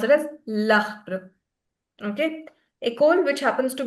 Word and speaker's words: l'arbre: So, before a vowel, le plus arbre. Arbre is a tree. Tree in French. It's masculine. So, we'll write it as l'arbre. And we'll also pronounce it as l'arbre.